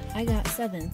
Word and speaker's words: IGOT7: A steadfast and growing fan base called IGOT7 played a role in supporting this journey. When pronounced in Korean, IGOT7 sounds like the term agase, or baby bird.